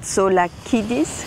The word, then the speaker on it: Tsolakidis: Elias Tsolakidis, richtig ausgesprochen?